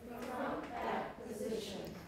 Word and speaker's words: position: the front back position position the front back position not position position s is pronounced as z and then the vowel is in e position position everyone beautiful the